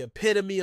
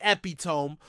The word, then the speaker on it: epitome: But moving on to our next word, which is epitome, as in the epitome of stupidity. Some Americans say epitome, but the correct pronunciation is epitome.